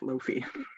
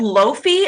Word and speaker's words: lo-fi: to look it up lofi okay now I have to look it up it's called loafy I've been calling it Lo-Fi the whole time I would also say